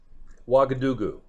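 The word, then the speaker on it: Ouagadougou: do you know what believe it or not wagadugu that's actually pronounced correctly all right so we see that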